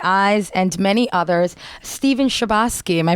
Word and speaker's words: Chbosky: legend in my eyes and many others Steven shabos my pronouncing that right you are indeed and it